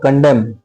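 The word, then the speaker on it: condemn: सबसे पहला word कंडेम। क डम डी ई एम एन होता है एम साइलेंट होता है इसको पढ़ते हैं कंडेम ठीक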